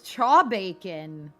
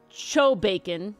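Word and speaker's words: chaw-bacon: Yeah, what the hell is chaw bacon? Okay, so it's cho bacon. Chaw bacon. Cho bacon. Chaw bacon. Sorry, I read Chaw the thing wrong.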